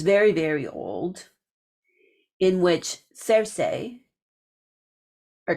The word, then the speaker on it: Circe: There was also the popularity of the Odyssey, which is very, very old, in which Circe, or Kerke, for a more Greek style pronunciation, that she was deeply involved with Hecate as well.